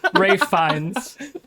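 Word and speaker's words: Ralph Fiennes: Raffin Finn. Ray Fines. Rafe. One of the finest working actors in film. Rafe fines.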